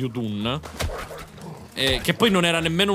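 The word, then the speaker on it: Udûn: Solo che ho sbagliato a dirlo e nel video pronuncio fiamma di Udur al posto di Udun.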